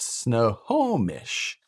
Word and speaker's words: Snohomish: Oh, it's pronounced Snohomish.